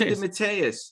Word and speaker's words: DeMatteis: So I never knew how to pronounce his name. It's James DeMatteis. DeMatteis, yeah.